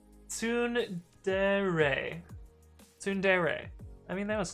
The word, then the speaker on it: tsundere: Kenbiko says it's pronounced and then the Japanese character. Yeah, definitely not going to get that. Fishbox says tsundere.